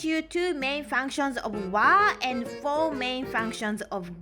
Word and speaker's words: は: two main functions of wa and four main functions of ga okay is written as ha but when you use it as a particle then you have to pronounce it as what is called